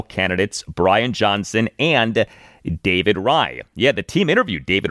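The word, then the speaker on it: Raih: Uh David Ry, his last name is spelled R AIH, is pronounced Ry.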